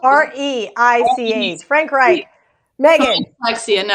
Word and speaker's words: Reich: Is that how it is spelled? R-E-I-C-H.